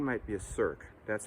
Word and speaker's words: cirque: Number 1 might be a cirque. That's spelled C-I-R-Q-U-E.